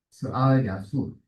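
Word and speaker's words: 스알야숩: 스알 야숲. 네, 특별한 이름이에요. 영어로 읽으면 좀 성경의 이름들이 좀 다르게 발음되잖아요.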